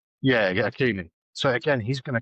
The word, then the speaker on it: Hakimi: back, and the guy at PSG, I can't pronounce his name. Hakimi? Yeah, Hakimi.